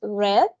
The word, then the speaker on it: read: El pasado de read es read. Se escribe exactamente igual, aquí lo tenemos, pero se pronuncia diferente como el color. Read and read.